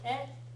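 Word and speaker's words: へ: Okay, so kisaten e kimasu, right? Make sure you're pronouncing it e, not he, when it's a particle.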